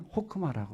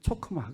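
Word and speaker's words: חכמה: 지혜를 히브리어로는 호크마라고 그래요. 지혜를 히브리어로 뭐라고 그래요? 호크마. 더 발음을 잘하려고 그러면 초크마 그래야 됩니다.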